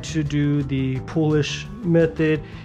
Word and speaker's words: poolish: Everyone always said it's not Polish, it's Poolish.